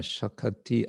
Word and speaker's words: shakati: Then finally, Krishna say tomāra, Krishna dite para, tomāra shakati ache. This shakati means shakti with an extra syllable in order to for the song's metrical form.